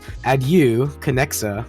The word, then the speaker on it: Adieu Conexa: I was honestly thinking of shortening it, but as of now, if you want to pronounce the whole game's name, it's Adu Kexa Broken Paradise.